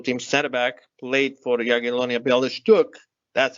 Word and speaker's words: Jagiellonia Białystok: team, Armenian national team center back, played for Jagiellonia Białystok, that's how you pronounce it, and in Poland, and that's clearly the link.